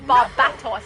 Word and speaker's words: Barbatos: David said Barbatos. Thank you, David. I appreciate your awesome pronunciation.